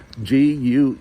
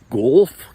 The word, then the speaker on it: Guelph: but anyway Guelph is g-u-e-l-p-h and it's really funny when foreigners uh or conversing with me and they're trying to pronounce the name of my city golf what is that so it's Guelph g-u-e-l-p-h Ontario Canada and